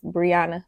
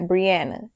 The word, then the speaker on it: Briana: my middle names is Briana Michelle not Brianna I hate when people say Brianna my name is not